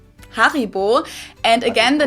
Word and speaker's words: Haribo: and loves hopefully maybe not everyone knew that Haribo is actually German we pronounce it harib yeah now thinking of that